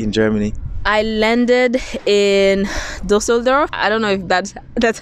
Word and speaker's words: Düsseldorf: I landed in Düsseldorf. I don't know if that's how you pronounce it. Düsseldorf, yeah.